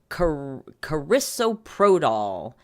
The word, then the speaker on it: carisoprodol: A blood test showed, and I'm going to have to look up what the pronunciation of this. It is carisoprodol, aka Soma, a pain medication, and lorazepam, aka Ativan, which is a benzodiazepine, supposed to be treating anxiety.